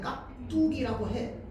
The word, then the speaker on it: 깍두기: 깍두기라고 하는데 발음할 땐 깍두기라고 해. 맞죠? 기억 뒤에 디귿이니까 쌍디귿 되잖아.